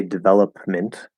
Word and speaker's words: development: and then an m this is going to be a stopped p right you could push it out if you're clearly enunciating that's not the normal way to say it right you could say development development that's fine but especially because the